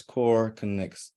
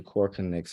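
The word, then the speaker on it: KoreConX: being housed yes so the current platform is core connects which is spelled funding it is k-o-r-e-c-o-n-x now anybody that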